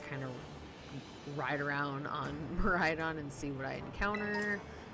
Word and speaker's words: Miraidon: I think it's Miraidon. I know some people say Meridian. I think it's Miraidon, but that is how you travel in this game.